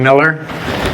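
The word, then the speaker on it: Meller: anything please do so my name is Miller I that's how I pronounce it and uh it's spelled m e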